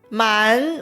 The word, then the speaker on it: 满: 再来，句子里有 2 个 3 声变调的陷阱。满 50 点的满跟 5，它们原本都是 3 声，连在一起读的时候会读成 2 声和 3 声，但是答